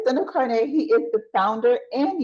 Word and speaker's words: Sando Karneh: Did I pronounce that correctly? Yeah, Sando you got it. Karneh. All right, Sando Karneh.